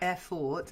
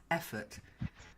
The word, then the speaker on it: effort: Just the one word, and it's about the actual pronunciation was fine, but the stress was a bit off. It's not effort, it's effort. Effort.